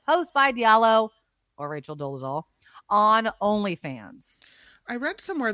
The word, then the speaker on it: Dolezal: It's none other than Rachel Dolezal. Am I pronouncing that right? Dolezal?